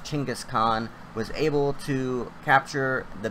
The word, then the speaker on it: Genghis Khan: So the great Genghis Khan, I believe it's actually pronounced Chinggis Khan, was able to capture the biggest landscape of the world.